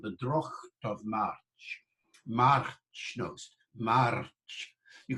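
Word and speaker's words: droghte: called a velar fricative, the ch sound towards the back of the mouth.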